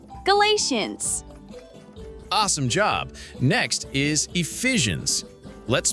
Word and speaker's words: Ephesians: Next is Ephesians. Let's spell it out. E-P-H-E S I A N S.